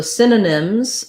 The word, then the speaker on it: synonym: know what synonyms are synonym has first syllable stress so um that means the sin is long then the uh nim are short letter y says the ih sound in synonym so you can think